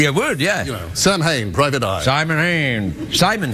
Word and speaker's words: Samhain: Oh, yes, it's Sam Hain today. It is. Good old Sam. Sam Hain. Yeah. It's pronounced Samhain. I call it Sam Hain.